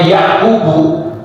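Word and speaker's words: يعقوب: bacanya nanti sekalian kalau salah baca maka Nabi Yakub termasuk yang diberi wasiat padahal Nabi Yakub itu tidak ketemu dengan nabi Ibrahim Nah makanya di sini bacanya yaakubu Iya kalau Nabi Ibrahim itu berwasiat juga kepada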